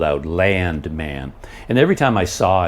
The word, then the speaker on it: Landman: looked at it, and I thought it would be like plural, like the show would be called Landman, something like that. But then I realized, oh no, it's man, Landman. It didn't make any sense to me, but now that I'm watching it, they pronounce it like they really hit land hard, like Landman.